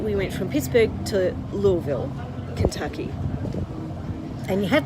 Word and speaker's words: Louisville: And you have to say Louisville if you have marbles in your mouth. Yes, it took us a while to work that out because we were saying Louisville or Louisville and we were over-pronouncing our vowels. It's Louisville.